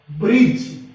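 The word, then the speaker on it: bridge: अगर D letter जी से पहले आ जाए तो अक्सर डी साइलेंट रहता है। देखते हैं। बी आर आई डी जी ई, ब्रिज। इसके अंदर डी साइलेंट रहेगा। बी आर आई जी ई, ब्रिज। ऐसी इसकी प्रोनाउंसिएशन रहेगी। बी यू डी जी ई टी, इसमें डी साइलेंट रहेगा क्योंकि जी से पहले आया है।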